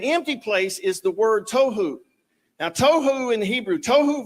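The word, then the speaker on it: tohu: that right there but he says that it's pronounced toou right is chaos Wilderness waste confusion a place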